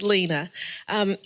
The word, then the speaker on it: Alina: It's Alina, only on a sign, but it's Lena.